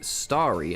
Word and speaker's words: Starry: Hey, that's pronounced differently. You've got Harry, Starry, and then Mary and Cherry. So, you've got Harry, Mary, Cherry, but Starry isn't the same as that.